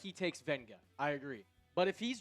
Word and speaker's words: Vega: Vega Oan or Venga. It is Venga. There is an invisible N in how he pronounces his name.